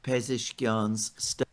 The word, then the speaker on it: Pezeshkian: of Pezeshkian's There you go.